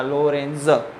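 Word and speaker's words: Lorentz: भाई ये कुछ नहीं है, टी साइलेंट है इसमें, हमको क्या बोलने का, लोरेंज, बराबर ठीक से बोलने का है, उसमें कोई दिक्कत वाली बात नहीं है।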